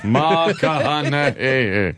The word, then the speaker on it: McConaughey: How do you say his name again? Matthew McConaughey. McConaughey.